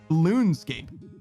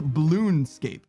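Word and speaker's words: Bloonscape: Not Balloonscape. Balloonscape. Like B-L-O-O. Like blue from Foster's Home for Imaginary Friends. Balloonscape. And it rhymes with RuneScape.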